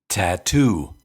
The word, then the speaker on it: tattoo: beginning of stressed syllables that's why tattoo has two aspirated T's the first one because T is the first sound in the word and the second one because T is the first sound in the stress syllable to to tattoo tattoo